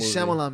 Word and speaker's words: Shyamalan: Night Shyamalan. M. Night Shyamalan, man.